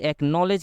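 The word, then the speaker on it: acknowledge: यहां पर होता है और डी साइलेंट होता है यहां पर एक्नॉलेज में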